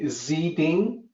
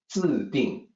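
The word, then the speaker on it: 自定: People might say ziding. Well, that's close, but not quite. It's 自定. And remember, it's not ziding.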